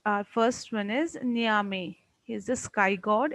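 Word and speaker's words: Nyame: Okay, so the name which are to be pronounced, our first one is Niame.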